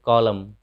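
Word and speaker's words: column: फिर कॉलम, इसे पढ़ेंगे कॉलम, कॉलम मतलब खंभा। तो जब भी एम के बाद एन रहे तो एन का उच्चारण साइलेंट हो जाता है।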